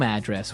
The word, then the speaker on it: address: So different from your home address where you live. Yeah. And there the stress is on the first syllable.